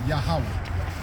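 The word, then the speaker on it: יהוה: that the Lord speak it's actually yahwah yeah in the Paleo Hebrew the ancient the real language yahwah that's how you proberly pronounce all right so but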